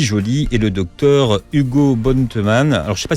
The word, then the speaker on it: Bottemanne: le docteur Lucie Joly et le docteur Hugo Bontemann. Alors, je ne sais pas si je prononce bien votre nom, mais vous allez voir. Bontemann, voilà.